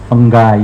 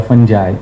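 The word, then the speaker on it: fungi: तो उसमें micro organisms की कुछ टाइप्स होती हैं, बैक्टीरिया हैं, वायरसेस हैं, फंगस हैं, जिसका प्लूरल फंगाई या फंजाई, अलग अलग लोग अपने अपने हिसाब से प्रोनाउंसिएशंस करते हैं उसके।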